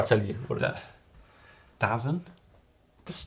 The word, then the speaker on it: DAZN: I went on YouTube and they had a bunch of pro athletes who were like, "How do you pronounce this?" And they were all like, DAZN, obviously.